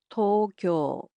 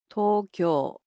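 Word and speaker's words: 東京: The capital of Japan, Tokyo, in Japanese is pronounced as Tokyo. Tokyo. So it's similar to English, except the O sounds in it are a bit longer.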